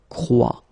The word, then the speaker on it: croit: And phonetically here, as we saw, and is not pronounced, so you get the sound croix.